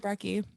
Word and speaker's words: Brekke: So, may everybody introduce you to or Brekke? Or did I say it right? Brekke.